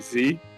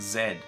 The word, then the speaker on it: Z: ever in my life literally as far as i'm aware america is the only one that pronounces it z other than you know a lot of people end up pronouncing it that way because of essentially hollywood but most places actually pronounce it zed interesting i wonder why